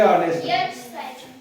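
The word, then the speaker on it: honest: silent आहे okay त्याच्यानंतर एच ओ एन इस हॉनेस्ट काय सायलेंट आहे याला आपण ऑनेस्ट म्हणतो आपल्याकडे आपल्याकडे ऑनेस्ट आहे ऑनेस्ट काय सायलेंट इथं एच सायलेंट ऑनेस्ट ऑनेस्ट नम्र शालीन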